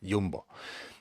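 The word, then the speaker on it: Jumbo: or Jambo I think in Denmark they pronounce it yumbo but these books they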